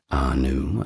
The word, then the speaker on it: Ea: We got the first two, Anu and Enlil.